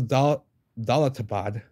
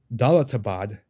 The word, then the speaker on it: Daulatabad: a doubt without a doubt so that was do doad for excuse me I've been saying it wrong dbad fort in India I think it's near Delhi